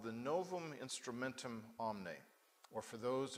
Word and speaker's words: novum: it was called the novum instrumentum omne or for those of you who know Latin better than most biblical scholars Noam instrumentum omne you don't pronounce the V but all biblical scholars